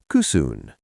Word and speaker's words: kysyn: Cusoon.